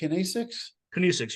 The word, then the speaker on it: kinesics: Kinesics, yeah.